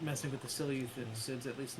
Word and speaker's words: Seleucids: And parts of Nabatea, the only part of Navatia that isn't theirs is the Sushilids. Dang it, that's not how you pronounce Seleucids. Seleucids.